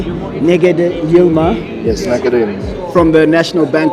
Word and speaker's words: Negede Yilma: I'm here with let me know if I'm pronouncing this correctly NE yilma yes from the National Bank of Ethiopia so